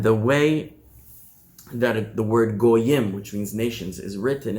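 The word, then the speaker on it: גוים: The written word in all the texts is spelled Geim, as if he said there are two great men inside of you, right? But not only is it pronounced Goyim, but the parallel phrase is Shnei Goyim bevitnech.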